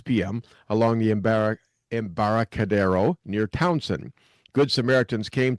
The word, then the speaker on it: Embarcadero: going to have to help me with this pronunciation, Embarcadero, is that right?